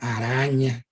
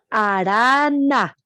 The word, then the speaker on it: Arana: Argemiro, Diana Araña, ahí está Diana Araña. Arana. Ah, es que yo no pronuncio bien, es Arana.